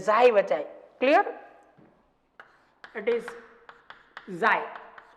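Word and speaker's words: psi: And next one and very important is xi. And xi બચાય. Clear? It is xi. But P is silent.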